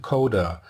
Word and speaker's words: cdr: For historical reasons, the left component is called "car" and the right one is called "cdr" (pronounced "coder").